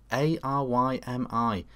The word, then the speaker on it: Arymi: A-R-Y-M-I. I've seen a million different pronunciations, but I think it's meant to be said Arymi.